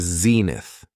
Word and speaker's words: zenith: The next noun is zenith. It has two syllables and the stress is on the first syllable.